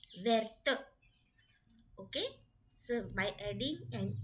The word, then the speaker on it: verte: If you put E, it becomes feminine, and the pronunciation from where becomes verte.